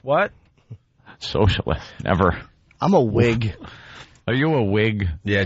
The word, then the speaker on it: Whig: socialist never I'm a wig are you a wig yeah Jimmy's part of the wig party I just like it cuz it's spelled Whig I like that silent h throws everyone qug all right so